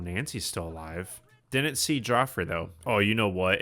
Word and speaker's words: Joffrey: Nobody will ever be worse though than Joffrey Landgraab, and I know it's pronounced Jeffrey.